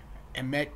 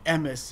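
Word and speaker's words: אמת: This the modern Israeli pronunciation. Emes and mes would be the Ashkenazi pronunciation.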